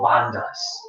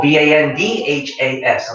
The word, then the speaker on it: bandhas: While we're staying here, we're going to talk about a locking system in the body called the bandhas. It's spelled B-A-H-N or B-A-N-H or B-A-N-D-H-A-S.